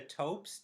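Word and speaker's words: Toeps: don't look autistic at all I might be mispronouncing her name but I believe it was B Bianca taes T OE PS yes okay y great so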